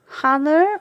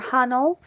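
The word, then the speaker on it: 하늘: His name is Her Hanner or Hanel if you want to say it like an American. It means sky in Korean.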